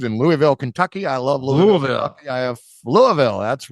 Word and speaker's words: Louisville: from Spectrum news in Louisville Kentucky I love Louisville I have Louisville that's right that's the proper way to pronounce it in indeed and got some friends